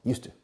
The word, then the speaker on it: used to: drive because used to used to but the pronunciation is always used to like the monastery of Houston okay now I